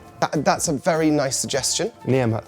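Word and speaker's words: Niamh: Niam, with a silent H.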